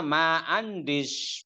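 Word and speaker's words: ما عنديش: Ana ma andish pulus. Nah itu coba perhatikan. Kalau tidak punya uang bacanya ma andish.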